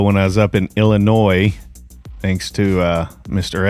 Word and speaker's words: Illinois: Now, the first one I did a year ago when I was up in Illinois, thanks to Mr. F pointing out that the S is silent.